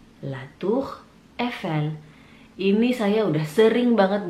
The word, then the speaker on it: La Tour Eiffel: Pertama pastinya La Tour Eiffel. La Tour Eiffel. La Tour Eiffel.